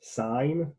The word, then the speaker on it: sine: this to be nearly as necessary it is pronounced sign because it's spelled sign s-i-n looks like sin